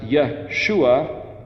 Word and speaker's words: Yeshua: Yod He Vav in front of it, it's Yeshua, Yod He Vav Shin Ayin, or if you put a Yod Shin Vav Ayin, it's pronounced Yeshua.